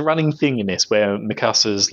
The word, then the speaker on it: Mikasa: But actually, is it Miska beats them all up? Mikasa. Mikasa, I keep saying it wrong.